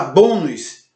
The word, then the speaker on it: bônus: bônus você disse bônus Ok então bônus tem um acento circunflexo na penúltima sílaba se tem um acento circunflexo na penúltima sílaba e tem a sua sílaba tônica no BO do bom é bobo Então ela é uma paroxítona trazido então novamente para